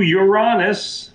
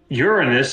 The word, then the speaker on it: Uranus: Uranus is spreading even wider, albeit a little later than it. Yeah. See, it's pronounced Uranus, okay? All you people out there. The Fudge Factory is pronounced Uranus.